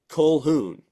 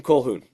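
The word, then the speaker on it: Colquhoun: USHL uh yeah Broan koun is his name it's spelt with a q in there it is silent it is of Gaelic origin Brogan colhoun so we welc him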